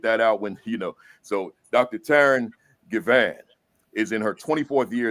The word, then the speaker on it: Taryn Givan: Taryn Givan.